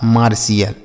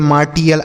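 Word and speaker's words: martial: पार्शियल initial special मार्शियल इसे टियल नहीं पढ़ेंगे पार्टियल इनिटियल स्पेटियल मार्टियल ऐसे नहीं मार्शियल ठीक आगे लिखा है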